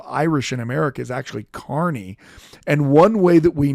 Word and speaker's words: Carney: write Kaa he writes Carney K he writes c a r NE y Carney which makes it sound like he works in an amusement park but that's how he's pronouncing it he was sent by